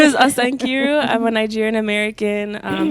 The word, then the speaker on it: Osa Nkiru: Hi, my name is Asan Kiru. Oh, hi. My name is Asan Kiru.